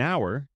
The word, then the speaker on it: hour: An hour, an heir, an honor. We use an because the h is silent.